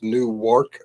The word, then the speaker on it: Newark: Uh I know they're neighboring cities and the pronunciation is real close. It's Newark, New Jersey.